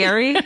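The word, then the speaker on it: Fieri: Oh, you're pronouncing that correctly. Fiery.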